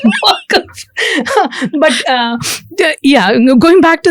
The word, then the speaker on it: Waqf: But again, we don't look at my pronunciation of Waqf is going to be a bit of a problem here. I have a sort of a Malayali pronunciation where I call it Waqf.